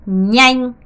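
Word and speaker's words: nhanh: 자, 얘는 어떻게 발음해야 되냐면 이렇게 발음해야 됩니다. 냥 냥이에요.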